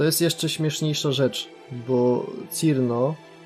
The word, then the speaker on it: Cirno: A to jest jeszcze śmieszniejsza rzecz, bo Cirno oryginalnie powinno się wymawiać Chillno. Bo jest lodową wróżką.